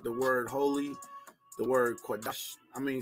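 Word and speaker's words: קדש: The word set apart, the word holy, the word Qadash. I mean, some people say Kodesh, but I'm not using that pronunciation. I'm using the Paleo Hebrew pronunciation, which I believe is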